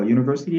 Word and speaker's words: university: Alors, university également commence par un son consonne qui est U, OK?